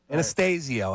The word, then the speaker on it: Anastasio: Yeah, Anastasio.